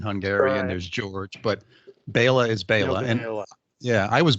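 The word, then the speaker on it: Béla: it's uh it's pronounced bayla bayla yeah i should know i hear it when i on your podcast yeah it's it's hungarian oh okay yeah so it's a very common uh hungarian name uh that does not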